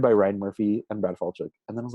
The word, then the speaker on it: Falchuk: Ryan Murphy, like with a lot of these shows, he co-creates them with Brad Falchuk.